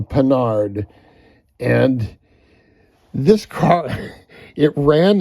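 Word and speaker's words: Panhard: 1968 a French car called a penard or spelled like pan hard a penard and this car it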